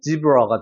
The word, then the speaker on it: zebra: 자, 이거 같은 경우도 여기에 강세가 적용이 되고 얘는 약한 슈화 발음이기 때문에 zebra가 되는 거고 zebra. 뒤에는 라가 아니죠?